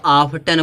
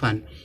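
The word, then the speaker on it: often: है ऑन देखो इसको बहुत सारे लोग ऑफ्टन पढ़ते हैं ठीक है वटी का साउंड देते हैं जबकि ऑफ्टन नहीं पढ़ा जाता क्या पढ़ा जाता ऑन क्यों पढ़ा जाता है लास्ट में देखो टी ई एन आया है जब टीई एन आएगा लास्ट में तो टी क्या होगा साइलेंट होगा इसको क्या पढ़ेंगे आन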